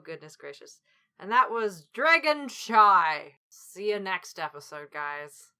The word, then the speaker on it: Dragonshy: And that was Dragonshy. See you next episode, guys. Dragonshy rhymes with goodbye.